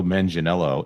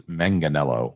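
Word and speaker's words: Manganiello: I also also watching the Epic documentary, I found out it's not Joe Menanelo, it's Manganelo when he pronounces it.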